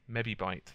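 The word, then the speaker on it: mebibyte: to their specs um it's actually not supposed to be megabytes it's mebe I think I say you pronounce it anyway um but anyway I always pronounce it mebe mebe bite that's m e bi I bite B YT e now I'm not going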